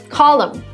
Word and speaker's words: column: This is where you don't pronounce the N at the end of this word. Column.